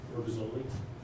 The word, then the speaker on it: Burgazoli: Sorry, Al Rogazzoli, I'm sorry, can you spell that for me?